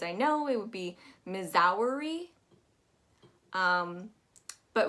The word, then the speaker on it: Missouri: be missouri um but what you want to make sure is that ss turns into a z and that u o u turns into an uh missouri missouri also make sure that when you're saying missouri that your u is not too pointed it's gonna roll directly into the r as one swift motion missouri missouri missouri up